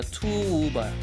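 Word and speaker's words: Tuğba: 이게 G가 유무샤케라고 하는데 묵음이야. 근데 길게 발음. 그러니까 투우바. 투우바 멜리스.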